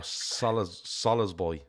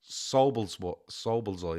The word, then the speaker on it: Szoboszlai: But it's actually Szoboszlai, is it? So this is the Google that I saw. It says it's 3 syllables.